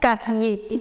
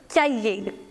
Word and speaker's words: cahier: Remember, the letter H in French is always silent. So do not pronounce it as cahier. No, c'est le cahier.